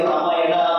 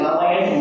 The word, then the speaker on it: Ramayana: not say Dharma, we should not say Ramayana, Mahabharata, it is Ramayana, Mahabharata, Yoga, Yoga. So that A is added by the other people because it was very difficult for those westernized people to pronounce properly all these different words.